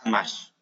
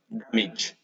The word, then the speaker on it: damage: Right, so now we know how to pronounce this part, like the last bit. It's each, right? It's like I, D, ch, right? Like in Spanish, like this, right?